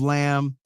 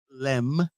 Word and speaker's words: Lemb: is the woman of lamb uh lamb lamb Lim limb you you gota really pronounce that MB limb auto correct you if